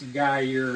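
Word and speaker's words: Gruyère: I forgot the name I think it's pronounce gu it's French those French people are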